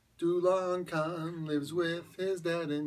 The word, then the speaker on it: Dulachan: hopped and devilishly delicious pronounced Dulan KH yep Dulan KH lives with his dad